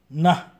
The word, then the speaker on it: न: is in plus aha na. Please note, when we pronounce this na, we have to keep our tongue on the upper portion of our mouth near the teeth and say na.